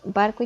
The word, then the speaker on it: barco: Tenemos 2 ejemplos: barco y candelabro. Barco está dividida en 2 sílabas y la sílaba tónica es bar.